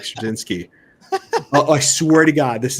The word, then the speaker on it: Straczynski: You can literally see me retelling this story and Matt being like Straczynski.